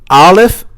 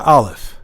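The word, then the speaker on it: ا: Aleph comes from al-jof, the emptiness of the mouth.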